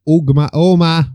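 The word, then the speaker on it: Ogma: And Nuada with Nodons, and Oma with Omus. That G isn't pronounced. I know it's not pronounced. It's the same as Oma, of the Oma bombing.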